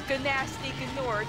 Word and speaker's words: Gnasty Gnork: How dare you not say his name right? It's Gnasty Gnork. Like, he's not a gnelf, he's a gnome. You've just been gnomed.